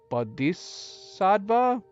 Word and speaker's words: Bodhisattva: Bodhisattva? Yeah, right? We don't pronounce the H.